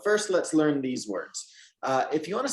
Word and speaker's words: hay: If you want to say there is or there are, in Spanish, it's just one short word. It's pronounced like this. I.